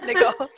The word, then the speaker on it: Nicole: So Americans are all familiar with that, and they know it's pronounced Nicole. But most of my students, the people I work with, are coming from other languages, and they have kind of internalized that the stress goes on the first part of an American name.